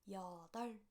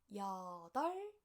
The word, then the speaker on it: 여덟: sound, B sound together, you don't have to read B sound, only L sound. That's why it is pronounced as 덜, 여덟. Okay, let's practice one more time. Repeat after me. 여덟.